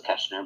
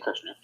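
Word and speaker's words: Kershner: I thought it was Keschner, but it's actually Kirshner.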